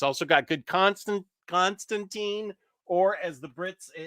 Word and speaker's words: Constantine: It's also got good Constantine, or as the Brits say, Constantine.